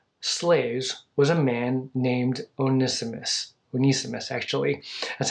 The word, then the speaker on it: Onesimus: one of Philemon's slaves was a man named onesimus venice' mess actually as how you pronounce it in the greek Onesimus i had